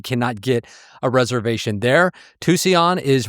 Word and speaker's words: Tucson: Tucson is right. Tucson. I swear. Tucson, I'm sorry. I will mispronounce that name for the rest of my life.